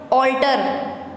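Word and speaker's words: alter: ऑल्टर, ऑल्टर, इसमें sound ओ की आ रही है, ठीक है, लेकिन ये स्टार्ट ए से हो रहा है।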